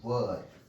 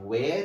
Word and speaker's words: were: Am, is, are, was, and were. It is not where, it is were.